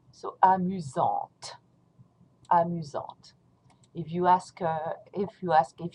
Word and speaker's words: amusante: Don't pronounce the T, amusant. And here, when you pronounce it in the feminine form, you're going to pronounce the T because of the E. So amusante, amusante.